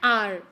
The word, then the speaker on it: hour: An hour. Here the word starts with H, which is a consonant letter, but the sound is a vowel sound, that is R, because H is silent.